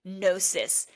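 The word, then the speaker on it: gnosis: So the transformation within eseroticism happens when you are able to drop into a state of eserotic nosis. Notice this is spelled G N O S I S.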